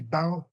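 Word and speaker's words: baobab: And it's u it's called a let let me just spell it. It's B O A B O A. You see baobob?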